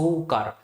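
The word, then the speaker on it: Tso Kar: पढ़ते हैं है ना टी हम यहां पर एक तरह से साइलेंट मारते है तो सो मोरीरी और सो सोकर ये दो झील है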